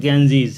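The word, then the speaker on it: Ganges: লক্ষণীয় গ্যাঞ্জিজ উচ্চারণটা। ব্রিটিশ ইংলিশে হচ্ছে গ্যাঞ্জিজ আর ইন্ডিয়ান ইংলিশে হচ্ছে গঙ্গা, দুটোই কারেক্ট।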